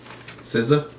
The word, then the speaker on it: SZA: SZA.